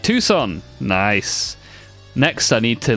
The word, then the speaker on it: Tucson: It can't be Tuxen, right? It's got to be more like Tucson.